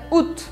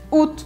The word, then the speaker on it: août: bem estranha, porque se escreve août, mas se pronuncia août, août.